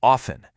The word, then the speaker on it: often: But these days, it's way more common to hear it with a silent T, so often. The hard T sound in often is still around, but you'll hear it a lot less frequently.